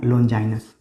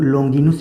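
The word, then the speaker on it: Longinus: करते हैं उनका नाम है लोंजाइनस लोन डाइनर यह भी कहते हैं यूनान के है मेरे लुनद को लोंगिनूस भी कहा जाता है कई बार ठीक है अलग अलग किताबों में अलग लेकिन का उच्चारण किया गया है तो लोंजाइनस लोंजाइनस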